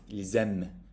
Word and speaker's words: ils aiment: If it's the single word, you say il, but due to the liaison, which is the next topic, you will pronounce it ils aiment. Then you hear the S, okay?